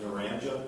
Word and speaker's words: Naranja: Is that Narranja? That is correct. It's pronounced Naranja?